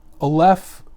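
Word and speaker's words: aleph: rachel's book but um olef as rachel was explaining is a hebrew letter that has no pronunciation it's like a silent letter it only fits in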